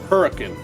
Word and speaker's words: Hurricane: it's in the town although it's spelled like hurricane it's not it's called hurricane that is correct Haruka